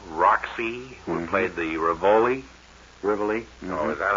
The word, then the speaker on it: Rivoli: Rivoli. Oh, is that how you pronounce it?